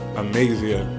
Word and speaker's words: Amazia: I'm still trying to get used to pronouncing that the correct way. Amazia, which means the strength of God.